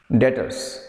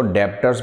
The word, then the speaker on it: debtors: डेटर्स, डेटर्स एक word है, ये बी साइलेंट रहेगा बेटा, कुछ लोग इसको डेप्टर्स बोल देते हैं, पर इसको डेटर्स बोलते हैं बेटा, डेप्टर्स नहीं बोलना, हाँ जी, डेटर्स।